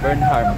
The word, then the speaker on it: Burnham: kami ng beram Park beram beram beram Burnham silent h Bakit ako nandito dito